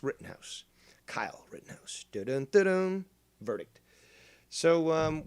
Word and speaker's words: Rittenhouse: pulled the wire there mispronouncing it but it's written house kyle rittenhouse verdict so